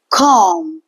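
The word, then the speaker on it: comb: है लास्ट में देखिए एम बी का कॉमिनेशन है एम के बाद बी आ रहा है तो in this case B will रिमन silent तो यह बोलेगा क्या बन जाएगा कम इसको हम बोलेंगे कॉम तो जो है बी का साउंड नहीं आएगा the next word will be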